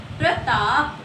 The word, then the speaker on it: प्रताप: आप बोल के देखिए, इसका उच्चारण कीजिए, प्रताप। प के तुरंत बाद र की साउंड आ रही है, ठीक है। तो यहाँ पर क्या है, र के साथ अ की भी साउंड है, ठीक है।